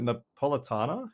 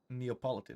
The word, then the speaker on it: Neapolitan: Is it Napolitana? Is that Is that the name of the ice cream? The the one with like the three colors? Neapolitan. Neapolitan. Neapolitan. Yeah.